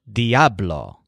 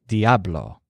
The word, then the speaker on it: Diablo: devil must be strong his word for this is Diablo so you have the stress on AB there Diablo in addition to that